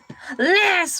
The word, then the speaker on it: ELAY: My name is LA, pronounced like LA like the city.